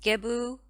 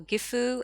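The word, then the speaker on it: Gebo: guidance then you've got gebu or gifu as i've been taught to say it it means gift and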